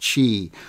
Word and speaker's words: Qi: go with the Qi charging it spelled Qi pronounced Qi and that's kind of like the wireless charging